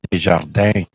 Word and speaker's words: Desjardins: I think it's pronounced Desjardins. Oh, Desjardins. Yeah, that's the proper way to say it in French. A lot of people pronounce the N.